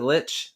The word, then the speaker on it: Lich: Oh yeah, Keys just asked, the name of the book is The Lich. Am I saying it right? Is it Lich?